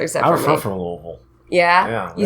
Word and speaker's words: Louisville: I'm from Louisville.